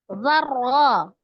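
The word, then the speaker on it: ذرة: Misqala zarra, ada huruf ra bertasdid. Berarti ada 2 huruf ro ya yang digabungkan menjadi satu. Yang pertama ro sukun, yang kedua ro fathah. Ro sukun sebelumnya fathah bacanya tebal, kemudian ro fathah juga dibaca dengan tebal.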